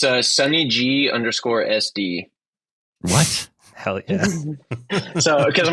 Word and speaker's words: Sunny G: Sunny G. Like, Sunny D, but Sunny G.